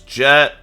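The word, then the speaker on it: Djet: name to be honest it's pronounced jet the D is silent or you know however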